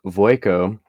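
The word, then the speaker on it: Vueko: confused here's a quick breakdown verico AKA Waco pronounced voico is the red and white haired woman with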